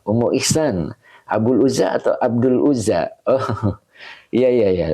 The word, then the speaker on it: Abdul: Jadi Abdul ya, bukan Abul ya. Abdul.